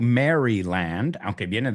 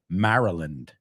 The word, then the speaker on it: Maryland: We don't say Maryland. Queen Mary Queen Mary is Mara Maryland, right?